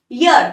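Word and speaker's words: year: पहले ए आएगा यर अब देखो आप इसको ईयर प्रोनाउंस करते हो तो आपकी गलती है ये ईयर नहीं होता ये यर होता है ओके ईयर तो ये होता है ये वाला अ ये वाला ये है यर ओके तो यर तो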